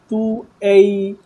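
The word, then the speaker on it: 对: তুই পুছি মেই গুয়ানছি এখানে উচ্চারণে একটু একটু প্রবলেম রয়ে যাচ্ছে এটা হচ্ছে তুই বলতেছেন এরকম না তু এই যদি ভেঙে প্রোনাউন্সিয়েশন করি প্রোনাউন্সিয়েশনটা এরকম হবে, তু এই যদি একসাথে বলি তাহলে হবে তুই তুই তুই এরকম, নট তুই তুই তুই পুচ্ছি তুই তুই,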